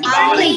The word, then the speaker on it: garlic: Garlic. R is silent. R is silent. Garlic. Not garlic. Garlic.